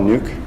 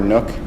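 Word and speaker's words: NUC: all have this is called the the Intel nuke or nook depending on how you want to pronounce it is it's basically a very small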